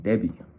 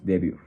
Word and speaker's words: debut: In French it will be like debut, and in English, debut. There is a little bit of a difference between pronunciation. It's kind of simple between both of them, just the final letters, and the meaning it's